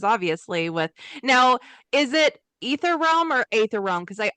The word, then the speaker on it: Aether: a while back and she said ether realm and I went I think I've been saying it wrong all of these years.